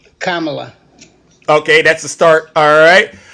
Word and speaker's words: Kamala: you will you use profanity no will you pronounce kamla's name correctly kamla okay that's the start all right uh all